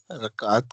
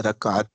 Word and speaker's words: رکعت: مسئلہ جی، کچھ نمبر ساتھیوں 12، کو تلفظ کا پوچھا تھا، رکعت کا جی تلفظ. تو اس کا صحیح تلفظ ہے رکعت، رکعت، اور اس کی جمع ہے رکعات.